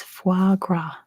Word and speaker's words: foie gras: there we go Callum got it it is foie gras foie gras not spelled like that calendar close enough you wrote anyway